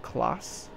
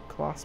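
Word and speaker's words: Claas: We have Klaas, spelled, I think it's Klaas. It's spelled C-L-A-A-S.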